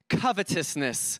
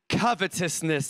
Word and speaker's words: covetousness: y'all and be on your guard against all covetousness I want you to say it with me covetousness let's say it again covetousness you got to